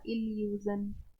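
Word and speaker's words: illusion: लेकिन इंग्लिश में ऐसा नहीं होता है, कितना भी डबल हो लेकिन उसको प्रोनाउंस सिंगल ही करते हैं। डबल एल है, ला बोलेंगे क्या हो जाएगा? इल्यूजन, इल्यूजन।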